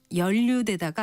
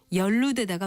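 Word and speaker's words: 연루되다: 이것 역시 연류대다가 아니라 연루대다가 맞고 여기서 두 번째 음절은 무글 루자를 씁니다.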